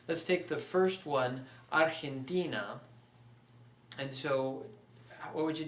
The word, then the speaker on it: Argentina: That's why it's pronounced Argentina and not Argentina or Argentina or Argentina. Those would be the other options.